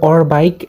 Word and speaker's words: Orbaic: project যেটার নাম হচ্ছে অর বাইক এখানে অনেকেই এটাকে অরবিক নামেও চিনে থাকতে পারেন কারণ এটার প্রোনাউন্সিয়েশন দুইটা হয়ে থাকে তো আমরা অর বাইক